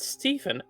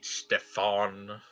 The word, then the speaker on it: Stefan: Oh, my name's not Stephen. How rude. It's Stefan.